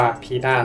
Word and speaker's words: Pina: แต่ จริง ๆ แล้ว อ่ะ มัน อ่าน ว่า พี่า นะ ตัว พี่า เธอ เกิด วัน ที่ 3 พฤศจิกายน มี ส่วน สูง ที่ 165 ซม.